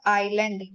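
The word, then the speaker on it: island: और अगला अगर हम एग्जांपल लें तो वो है आइलैंड। आइलैंड यानी ए साइलेंट होता है।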